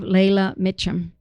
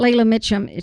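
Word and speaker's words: Leila Meacham: stories, and I love Layla Mitchum. The thing about Layla Mitchum, she's written like 4 different books, wonderful books, and you can look her up in Google. It's spelled Leila, and then Mitchum, Meacham.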